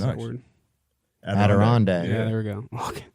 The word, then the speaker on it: Adirondack: I don't know how to pronounce that word. Adirondack.